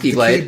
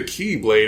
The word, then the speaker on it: X-blade: the x-blade that pronounced keyblade blade he's like here's the last time when he pulls the cavery and kills her it's not the key blade it's the keyblade i'm like the symbol